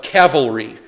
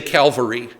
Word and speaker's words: cavalry: know what that's called it's supposed to be pronounced Cavalry but most of us say Calvary um do you remember